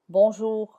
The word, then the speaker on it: bonjour: It is less audible and it sounds a bit dry in words such as bonjour. Bonjour. You say it but it's not very audible. It's very dry.